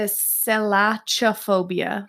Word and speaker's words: Selachophobia: is it Chuck or cut it's it's a Sailaja phobia so is a CA it just pronounced and sank that's not cut because I